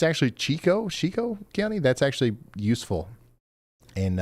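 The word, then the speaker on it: Chicot: They're passionately confirming Ouachita is Ouachita after you bravely waded into that hornet's nest of vowels, and that Chickett County is Chico.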